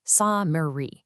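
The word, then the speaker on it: سامري: Look at the Arabic word we are trying to explain here, Samiri. It has very specific vowels baked into it, a long a short e, a long e.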